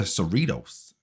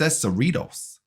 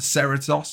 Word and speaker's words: Cerritos: so they pronounce it the cerritos so we'll pronounce it the cerritos for all of my american friends and viewers out there who said i pronounced it wrong so it's the uss cerritos um so it's not the ceratosos even though